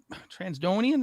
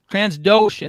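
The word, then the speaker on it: Trandoshan: The Transdonian, is that how you pronounce that? Transdoshan, thank you.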